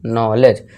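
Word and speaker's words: knowledge: इस तरह देखिए एन से पहले है और वर्ड के शुरू में ही स्टार्टिंग में के आ गया, तो के साइलेंट, तो इसे क्या पढ़ेंगे हम, नॉलेज।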